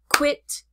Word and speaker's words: quit: open mouth quit quite quiet is a two syllable word quiet it quit quite quiet it for example I quit my